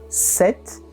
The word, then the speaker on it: sept: O número 7, a gente diz sept, sept. Como vocês podem perceber, na escrita existe um P que fica completamente mudo no oral. Então, sept. 7 garçons, 7 filles, 7 enfants.